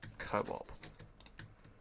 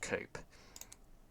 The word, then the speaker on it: co-op: We're going to go for co-op which is not pronounced cope for this one.